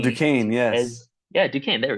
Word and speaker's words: Duquesne: I think it's like Oh, Duquesne, Duquesne, yes.